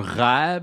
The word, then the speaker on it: rêve: Un rêve se prononce a-e. Rêve.